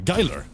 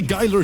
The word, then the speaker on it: geiler: You cannot pronounce this. I was like, all right, fair enough. Wait, hold. Like this, basically. Geiler. Geiler. You can say Geiler too.